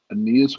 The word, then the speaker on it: Aeneas: I always say his name wrong, but it's Aeneas Williams. Oh yes, yeah, Hall of Fame corner Aeneas Yes, Williams.